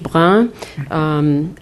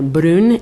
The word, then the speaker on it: Brun: Élodie Brun, as her name is pronounced in French, or Brun in Spanish, comes to